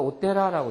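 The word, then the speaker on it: お寺: 근데 절만이 단독으로 쓰여 있을 때는 지라고는 안 읽어요. 그냥 되라라고 읽죠. 그래서 오테라라고 있습니다.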